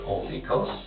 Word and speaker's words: Olykos: The name that I go by is Olikos. How do you spell it?